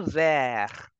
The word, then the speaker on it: verre: And you say glass in French as le verre. The way you pronounce green in French or towards, the same pronunciation goes for glass as well.